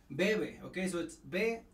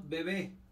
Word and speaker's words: bebé: de ver a ver es importante decirle pronunciación because it's bebé no bebe bebe db d desde